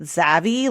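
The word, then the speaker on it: Xavy: I say it Z like in my head I say it zavy like rhymes with Savvy but it's spelled x a v y and so some people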